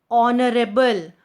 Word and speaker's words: honorable: Are, honorable, honored. We don't pronounce the word H here.